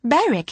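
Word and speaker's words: Berwick: But it's pronounced Beric, isn't it?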